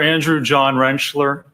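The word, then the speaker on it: Andrew John Rentschler: Could you please state your name for the record and spell it? Dr. Andrew John Wrenchler.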